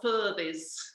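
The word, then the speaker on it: Aquhorthies: Well, it's written a Quarthys and it's pronounced a Furthys.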